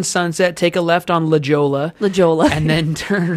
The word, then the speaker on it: La Jolla: it's spelled La Jolla or something. La, right? La Jolla is La Jolla. La Jolla.